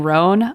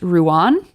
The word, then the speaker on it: Rouen: I kept saying Rhone, I believe, but according to Emma, it is actually pronounced Rouen.